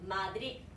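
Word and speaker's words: Madrid: 마드립 마드립 마드립 음마드립 아 배로 끝나는 애들은요 항상 혀를 혀끝을 살짝 깨물면서 발음해 주셔야 돼요. 그러니까 다치는 발음이죠. 같이 해보실게요. 마드리 마드리 마드리 마드리 이게 표준 발음입니다.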